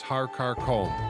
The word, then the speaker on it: Har Karkom: The first mountain is Har Karkum, which some pronounce as Har Karkom.